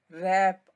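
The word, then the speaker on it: wrap: किसी को लपेटना तो रैक में आप देखें डब्लू जो है वह साइलेंट है इसलिए जरा नीचे गिरे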